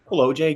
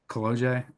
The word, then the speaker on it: Kolodziej: Colloj. Good enough. Colloj. Uh, Pol. Is it Polish? Right. It is Polish.